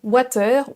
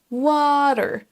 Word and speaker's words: water: Beaucoup de Français vont le prononcer water ou quelque chose comme ça. Attention, dans ce mot, il y a un A qui est écrit, mais on ne le prononce pas comme un A à la française. Ce mot se prononce water, water, water, avec l'accent américain, et water, water, avec l'accent britannique.